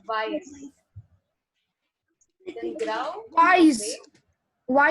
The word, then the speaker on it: weiß: So here you see that beta sign. And what I'm saying for that is weiß.